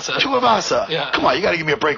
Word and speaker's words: Tuivasa: Hey, and what is Tuivasa? How do you pronounce his last name? Tuivasa.